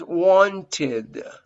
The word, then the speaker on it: wanted: problem and you pronounce wanted wanted in this case you have to pronounce this eddie like ed because you have the final t whenever you have a